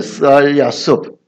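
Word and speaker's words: 스알야숩: 스알야숲. 히브리어는 이렇게 읽습니다. 우리 글도 옛날에 이렇게 읽었어요. 이렇게 읽었어요. 스알, 이게 S 발음이에요.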